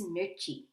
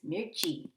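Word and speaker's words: मिर्ची: and spicy sweet is mita and spicy is mirchi let's do those again sweet is mita and spicy is mirchi so let's do some practice problems to see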